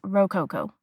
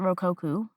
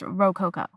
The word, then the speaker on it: Rococo: I did look up how to pronounce it and it is Rook Coco. I think this whole season I was pronouncing it Roku, but it's Roco.